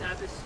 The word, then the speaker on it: Abbas: Abbas, if I pronounce it correctly. It's Abbas.